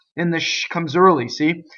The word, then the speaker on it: se: See vocal cords. Manina. Wrong. Manina. And again, you practice. Aia. Manina. Okay, going on. S-E, se. Okay, so it's a closed E.